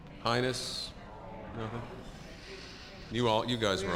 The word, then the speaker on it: heinous: uh um I'll have to spell the word h-e-i-n-o-u-s heinous no heinous Hennis highness you all you guys are all famous you were all the same you were all heinous I think on that and I think we